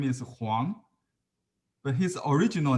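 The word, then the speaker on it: 黄: uh family name okay huang meaning yellow like huangshan you know the pronunciation could be one in is the same w-o-n-g but in mandarin is huang wang the same in cantonese means grandfather a gentleman mister you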